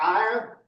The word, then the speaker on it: Iyar: The next month, that's an Iyar, or Ir, R. Sounds like a pirate.